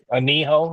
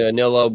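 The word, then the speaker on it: anillo: Aniho is what it's called. Ano? A N I L L O. Okay, got it. You've heard people pronounce it wrong, the Anilo, but it's just because you know Americans can't pronounce nothing.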